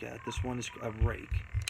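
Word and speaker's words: Ruike: this one is a rake. The way it's spelled is R-U-I-K-E. It sounds like rook, ruiki, but it's pronounced rake. From everything I've read and understand, it is pronounced rake.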